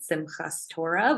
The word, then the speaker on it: Simchat Torah: And then right after that is the holiday of Simchat Torah, or people might pronounce it Simchas Torah, which is a celebration of reading the Torah, or the Old Testament on the scroll.